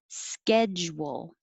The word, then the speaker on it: schedule: So first one, schedule. This is a weird j, sketch, and then you have to go to wool. Make your lips small, wool.